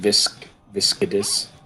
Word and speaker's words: Viscidus: It's pronounced viscidus.